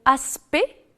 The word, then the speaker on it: aspect: le elle est prononcée attention aussi aux mots aspect est distinct dans lesquels ni le sait ni le thé ne sont prononcés alors qu'on dit direct